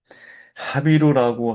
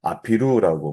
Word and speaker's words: 하비루: 근데 이 지역을 연구하다 보면 하비루라고 하는 단어가 고대 기록 중에 많이 발견이 되죠. 아피루라고 말하기도 해요. 하비루와 아피루 같은 어원인데 지역에 따라 발음이 변형이 되면서 어떤 지역에서는 하비루, 어떤 지역에서는 아피루.